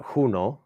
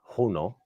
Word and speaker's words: Juno: a lot of things so we sent uh huno is how it's pronounced huno because uh so it's it it is the